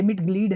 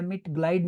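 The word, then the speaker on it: Mitglied: अब ये मिट ग्लीड है, मिट ग्लाइड नहीं, आइंदा ये गलती की ना फिर मैं बताऊंगा आपको।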